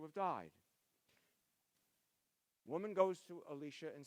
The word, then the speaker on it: Elisha: In Jewish tradition, it's Elisha, the one who comes after Elijah. We both pronounce that one the same way.